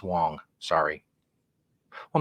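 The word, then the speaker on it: Hwang: It's spelled H-W-A-N-G. I would call it either Huang or Wang. It's Wong.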